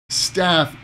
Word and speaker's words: staff: Staff, stuff, staff, stuff. Okay? Notice the vowel sound. The ah in staff, it's a long sound. Staff. But that's my stuff. Stuff. The sound is very, very short.